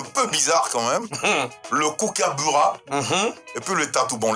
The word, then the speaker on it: kookaburra: Alors, essaie de prononcer pour moi. Le kookaburra.